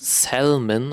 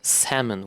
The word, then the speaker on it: salmon: is actually not pronounced salmon or salmon. It's pronounced salmon without the without the L.